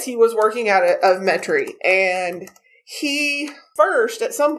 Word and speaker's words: Metairie: was working out of metairie louisiana or as we have to say metri metric yes i was very